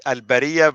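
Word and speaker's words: البرية: In order for you to read it, al-bariya versus al-bari'a. That was very simple. I mean, without it, you won't be able to pronounce it correctly. And notice, when you pronounce it correctly, now you know the meaning of the word. Al-bari'a, innocent, al-bariya, creatures. Big difference.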